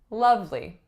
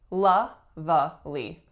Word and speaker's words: lovely: our list is lovely lovely again it looks like it should be la vallee lovely lovely but in actuality that middle syllable is entirely omitted and we say lovely it was a lovely